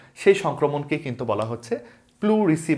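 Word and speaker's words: pleurisy: কারণ নিয়ে আলোচনা করব যার উচ্চারণ হচ্ছে প্লুরিসি এটার উচ্চারণ হচ্ছে প্লুরিসি অথবা প্লিউরিসিও বলতে পারো তোমরা প্লুরিসি বা প্লুরিসি কি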